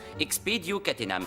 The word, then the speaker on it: Expedio Catenam: Dans le cas présent, la formule magique se prononce Expedio Catenam.